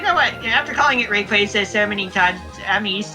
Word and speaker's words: Rayquaza: thing about it is part of the name is based on Quasar. Oh, therefore Rayquaza. Yeah. I used to call it Rayquaza, but now it's like, you know what? After calling it Rayquaza so many times, I'm used to it.